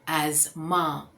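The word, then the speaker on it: asthma: ये अस्थमा नहीं है, यहाँ पे टी साइलेंट है, तो हम बोलेंगे एज़मा। एज़मा, एज और मा, एज़मा।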